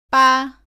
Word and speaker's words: 빠: 다음은 바, 빠, 파입니다. 모두 바와 발음이 비슷한데 빠는 바보다 세게 발음하고 공기가 나오지 않습니다.